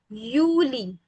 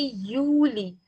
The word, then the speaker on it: Juli: So pronunciation will be like Yuli. Julie not Julie. No it will be Uli.